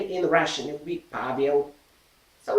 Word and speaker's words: Pavel: It will be Pavel. So it's Paul. And we pronounce this letter P like in word pet.